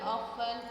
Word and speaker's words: often: Oke, keterangan keterangan waktu yang sering digunakan di simple present ada always, never, regularly, often. Nah, kalau American bacanya often. Oven. Kalau British bacanya often, occasionally, seld, steady, dan seterusnya.